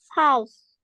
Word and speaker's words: house: you say how it sounds like you saying how can you see the difference house yes very good otherwise you are saying how like how how are you doing so it's really important to pronounce the S house okay now I'm going